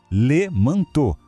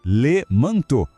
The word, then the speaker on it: manteau: Sempre que virem E, A, U juntos em francês, esse trio tem som de O. Fica fácil, né? Le manteau. Vamos lá, juntos. Le manteau.